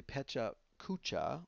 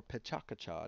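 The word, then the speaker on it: Pecha Kucha: Basically, Petcha Kucha or Petcha Kacha, depending on how you pronounce it, is it's a game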